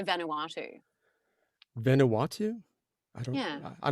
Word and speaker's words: Vanuatu: this guy, he was picking on me so, like, he was, how do you say Vanuatu?